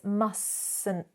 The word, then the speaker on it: mustn't: And remember that silent T. It's not mustn't have. It's mustn't have.